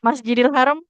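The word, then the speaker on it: المسجد الحرام: Dalzalika liman lam yakun ahluhu hadiril musjidil haram. Oke. Garis di atas miring fathah bukan masjidil kan? Masjidil haram. Masjidil mus enggak masjidil haram.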